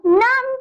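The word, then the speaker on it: numb: अगर एम के बाद बी आ जाए तो बी साइलेंट रहता है। और एम का साउंड न, और बी तो साइलेंट है तो हम लोग बी को तो प्रोनाउंस नहीं करेंगे।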